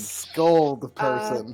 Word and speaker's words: Scold Person: It rhymes with hold person. Hey. Is it told Harrison? It's scold person.